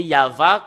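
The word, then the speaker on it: יהוה: Et le fait de le lire selon la Sainte Écriture hébreu, c'est Yava qu'on le prononce. Et vous ne pouvez pas lui faire une discussion et le contredire que c'est Yava.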